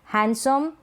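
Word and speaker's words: handsome: जैसे कि Wednesday, हैंडसम, handkerchief, sandwich. Sandwich ये गलत प्रोनाउंसिएशन हो जाएगा।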